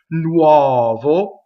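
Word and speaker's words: nuovo: Here's a good example of the u-o in influencing the O to make it open. Nuɔvo. Notice that the final O is on the unstressed position, so it's closed because we know all unstressed vowels are closed.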